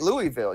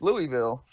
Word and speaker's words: Louisville: pronouncing it everyone pronounces it how do you pronounce it Lu right Louisville you think it's Louisville but it's not it's actually Louisville and and